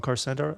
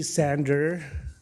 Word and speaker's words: Sander: next delegation is on carcenter did I get that correct uh it's actually sander they spell it wrong okay so I'm on